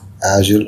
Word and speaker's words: Agile: Here we want to introduce the approach of Agile or Agile. Okay, two types of pronunciation. You can pronounce it Agile or Agile. I'll be using the term Agile or the pronunciation Agile throughout the course.